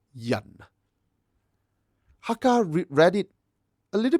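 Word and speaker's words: 人: Mandarin today, we say ren. Very different, isn't it? But Cantonese is similar. We say yan.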